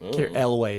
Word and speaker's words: Elwes: That's how I pronounce his last name. Elways.